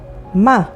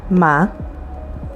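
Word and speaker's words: מה: sounds like ma let's learn some new words ma which means what and spelled with mem hey me which means who and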